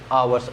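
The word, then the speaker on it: hour: ये एन हो जाएगा अवर्स यहां ह साइलेंट है तो अवर होगा आपको पता ही है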